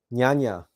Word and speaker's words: Jnana: The next on our list here is pronounced Jnana Yoga, and it is the path of self-analysis and knowledge related to the intellect.